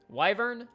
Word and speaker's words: wyvern: and the how do we say this is pronounced wyvern wyvern wyvern wyvern wyvern wyvern o - this